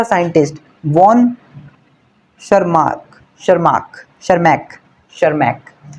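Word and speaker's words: Tschermak: शर्मार्क शर्माक शर्मक शर्मक यहां पे T silent है और इसकी जो प्रोनाउंसिएशन होगी वो शर्मक शर्मक ठीक है अब ऐसा नहीं होगा कि तुम बोलो टर्मक नहीं टशरमैक नहीं होगा टी साइलेंट है तो बनेगा शर्मक वॉन शर्मक वॉन शर्मक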